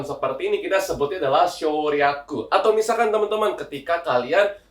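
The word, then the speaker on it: 省略: Cara bacanya itu adalah shoryaku ya.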